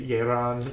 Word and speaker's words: Yelan: For example, Yelan, her name would be furigana as Yeran, even though the first character of her name would probably be more like Ya in Japanese, depending on the reading.